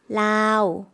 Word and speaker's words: ลาว: เขาเป็นคนลาว 한국어 발음이랑 비슷하죠? 라오스 했는데 태국 분들은 이렇게 뒷발음을 많이 묵음화하기 때문에요. 라오라고 하면 라오스가 되겠습니다.